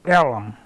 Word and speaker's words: Ellum: m Elm Street mhm that name Elum did not come from the Caucasians or the white folks Name It We pronounced it as Elum Black Folk did deep Elum that's where